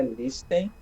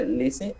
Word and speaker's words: listen: Não é listen, tá? É listen. Esse Tzinho, ele é mudo, tá?